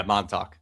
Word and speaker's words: Montauk: Montauk? Yeah, Montauk.